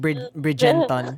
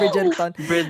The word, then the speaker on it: Bridgerton: Tapos, Niña couldn't say Bridgerton. She kept saying Bridgenton. So, so I said Bridgerton.